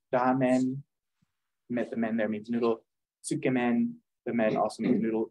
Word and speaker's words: tsukemen: very good oh and another one is uh tsukemen skam in uh it's spelled t-s-u-k-e-m-e-n t-s-u-k-e-m-e-n uh men means noodle you might see a lot of noodles uh like Ramen there means noodle tsukumen the men also means noodle it I'm not